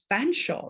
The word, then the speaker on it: Featherstonehaugh: There's a surname in the UK, Fanshawe, right? But it's spelt Featherstonehaugh, right?